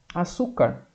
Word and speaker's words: açúcar: Por exemplo, ali a palavra açúcar. Açúcar termina com R. Quando é uma paroxítona que termina com R, vai acento. Açúcar. Qual é a sílaba mais forte? É o su.